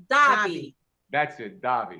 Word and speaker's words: Davi: actor and singer Robert Davi here hey Robert to the show okay I pronounced his name wrong it's Robert die that's it darling not